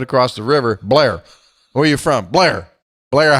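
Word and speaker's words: Bellaire: e we pronounce that Blair aha he said' run together run it all together as if it's all one word where you from blaira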